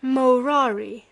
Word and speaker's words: morari: way of just that he had ceased morari among amongst men pronouncing the first syllable long and treated as null